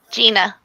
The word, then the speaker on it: Jeanna: about this hi J hello I'm saying your name wrong again I'm so sorry Gina Gina how's it going Gina